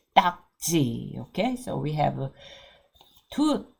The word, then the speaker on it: 딱지: t g t g there is no Double D sound in English we say no so that's spelled the d d but we don't have that kind of strong sound in English but we will say d g okay so we have